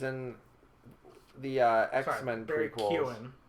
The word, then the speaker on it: Keoghan: Keoghan is how you pronounce his name. Oh, really? I know that because blank check. Yeah. All right. Keoghan? It's Barry Keoghan. Keoghan. Keoghan? Keoghan. Keoghan? Because it starts with K. Like Key and then Ewan?